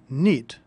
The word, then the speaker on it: knit: Notice that the word knit is spelled with a silent K.